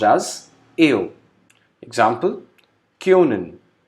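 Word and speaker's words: können: Next, O with umlaut, which is pronounced as AO. Example, Kyonen. O is with umlaut, which is pronounced as AO. So the pronunciation would be Kyonen, which means can in English.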